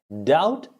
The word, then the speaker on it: doubt: Doubt is doubt. Doubt. D-O-U-T. Doubt. D-O-B is silent.